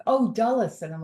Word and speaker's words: Dulles: up at Dallas airport which I know is not pronounced duels because that's what it looks like right because I'm like